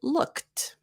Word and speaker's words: looked: a look at look it's got the c ending so it turns into looked looked and actually I'll show